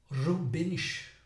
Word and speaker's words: Rubens: Rubens, ou Rubens, nome alemão, pronúncia alemã, não dê risada, ok? Preciso aprender. Rubens, ou CH mais para dentro, Rubens, alemão, Rubens.